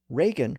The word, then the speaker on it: Reagan: the same Irish surname Reagan reflects an older more traditional pronunciation with the vowel in position number two like in break and stake and Regan reflects a